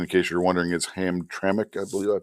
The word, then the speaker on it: Hamtramck: city in Michigan, in case you're wondering, is Hamtramck. I believe I pronounced that right. I think that's how Moose said it was pronounced. So, both Dearborn and Hamtramck, if I understand correctly, are not that far from Detroit.